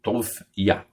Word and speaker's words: Toviá: Eu tenho, eh, Toviá. Ieudai. Eh, Toviá. Em hebraico é é Tof Iá. O a é o o a partícula do tetragrama, né?